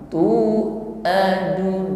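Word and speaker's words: تُوعَدُونَ: Aqribum matu huruf ain hati-hati tidak diucapkan sebagaimana mengucapkan hamzah, kaku. Tu adun bukan tu a, ya, sifatnya tawassut, lunak saja mengucapkannya.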